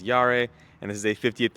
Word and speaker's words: Jahre: I'm pronouncing Yara wrong that's what I saw Motor Trend j-a-h-r-e's how it's spelled German that's year which is yare and this is a